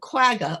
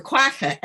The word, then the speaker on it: quagga: most significant thing about the quagga or quaca as it should be but it's it's easier for me to pronounce it as quagga so i i will